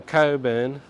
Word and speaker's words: Cockburn: names for suburb because it's spelled cockburn but it's pronounced Coburn now there is